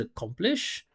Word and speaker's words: accomplish: He said accomplish. That sound doesn't exist in English. It's a ka, ah.